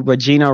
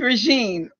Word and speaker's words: Regine: I did, but this time you mispronounced my first name. It's Regine.